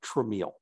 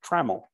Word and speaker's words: Tramiel: So one of the constant, but very small, thorns in his side was when people saw our last names, they would pronounce it Tramiel.